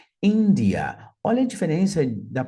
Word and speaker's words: India: I em língua inglesa notem que a sílaba tônica é a primeira India India Olha a diferença da